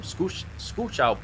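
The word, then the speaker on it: Skoczów: what Victor Wasser from Skuchow, Poland, believe it or not, that's how you pronounce that, gave up a little bit further across the line, I think, than the last one.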